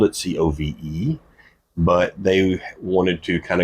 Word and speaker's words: Cobh: correct me on that, I don't believe the Irish alphabet has a V in it, so it's spelled Cobh, and the BH makes the V sound. So it's now spelled Cove, but it's still spelled Cobh.